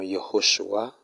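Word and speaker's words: Yehoshwah: Parce que nous voyons Yehoshua qui s'écrit Y-E-H-O-S-H-W-A-H.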